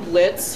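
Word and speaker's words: Blitzø: a junior and I'm Blitz from hell of a boss the O is silent hi I'm Alexis Vernon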